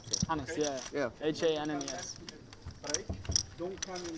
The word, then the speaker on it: Hannes: Hannes, yeah.